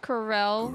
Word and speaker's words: Corel: till they were healthy pronounced Corell Corell huh Corell it is not cor be safe you guys